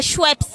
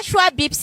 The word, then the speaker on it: Schweppes: Non, c'est Schweppes. Schweppes. C'est pas Schweppes, hein. Schweppes. Schweppes. Schweppes. Schweppes. Voilà, Schweppes agrumes. Schweppes agrumes.